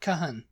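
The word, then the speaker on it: Cajon: say that you know it's c a j o n l cun Lun in it I mean I mean why why didn't you know like Cajun food why didn't you say that Kahan Kahan cahan because it's not a Spanish word well isn't it it's just a u and an O you're just placing an o with a u a you yeah well there you go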